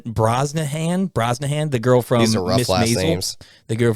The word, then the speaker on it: Brosnahan: similar yeah 100 and then Rachel Rachel uh Brosnan Brosnahan Brosnahan the girlfriend the girl from uh the